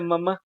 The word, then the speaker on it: mamá: Ajá, es la última, ¿no? Es la última. Entonces, es la última sílaba la que suena más fuerte.